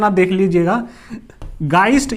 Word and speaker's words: Geist: इसको लूजली एक टर्म दिया जाता है, ठीक है, इसका प्रोनाउंसिएशन आप देख लीजिएगा, गाइस्ट या जीस्ट.